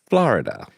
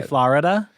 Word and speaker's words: Florida: You say Florida? No. I have somebody point this out to me. I say it only 2 syllables.